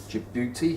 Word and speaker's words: Djibouti: there called your beauty which is spelled d j i b o u t i jabuti here and then a